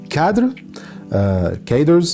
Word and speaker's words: cadre: workers, and the supervisory cadres, I think that's how it is pronounced in English. I have the term in French in my mind, so cadre, I'm gonna say cadre.